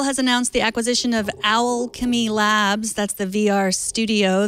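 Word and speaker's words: Owlchemy: I'm not just pronouncing Alchemy wrong. It's O WL like an owl. Alchemy.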